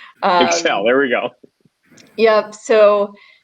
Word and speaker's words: ECCEL: and emotions lab and we do pronounce it excel excel there we go yep